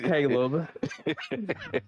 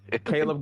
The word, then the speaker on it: Caleb: me Caleb black flash he said my name wrong it is Caleb Caleb God speed on you